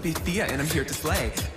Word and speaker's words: Pythia: b-y-t-h-i-a it's pronounced by thea and i'm here to